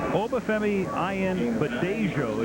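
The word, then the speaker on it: Obafemi Ayanbadejo: And that's caught for a first down as Obafemi Ayenbadeyo. Did you repeat that? Well, 49. You know what they call him? They call him Femi in camp. Obafemi Ayenbadeyo is actually how it's pronounced officially.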